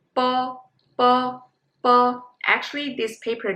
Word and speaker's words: bo: Well, bo and po, these two are very similar, but